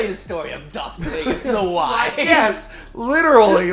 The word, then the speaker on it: Plagueis: Now Pelagius, like apparently he had like something similar where he couldn't breathe, like You Vader. keep pronouncing that name wrong, but whatever. Darth Pelagius? It's Plagueis.